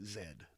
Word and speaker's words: Zed: I never understood why they called him Zed instead of Agent Z, but everywhere else, like in Canada and some other countries, like they pronounce Zed. They don't call it Z.